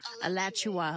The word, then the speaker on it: Alachua: Alachua, like Joshua, but Alachua.